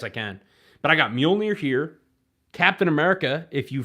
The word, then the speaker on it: Mjolnir: But I got Mjolnir here.